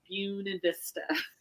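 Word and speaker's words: Buena Vista: was in a city called uh wav Vista buun Vista oh yeah yeah so I I pronounce it wrong because I'm not from here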